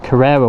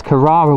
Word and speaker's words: Carrara: to pronounce actually because I thought it was Carrera white Carrera I even struggled to take Herrera anyway it's Carrara white and it has got